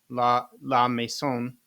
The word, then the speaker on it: La Maison: I'm pretty good with Spanish, but I'm not great with French pronunciation. So I'm going to give it a try. La Maison.